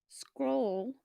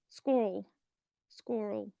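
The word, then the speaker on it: schorl: So black tourmaline, also known as scroll, it's spelled SCHR, so squirrel.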